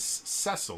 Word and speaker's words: Cecil: Red Wings um and the captain's name is cesil or Cecil depending on who you're talking to um and Cecil which is how I always pronounced it um Cecil um was